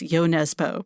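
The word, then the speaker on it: Jo Nesbø: The Thirst and I understand from the publisher Koff that it's yo Nesbo but I feel like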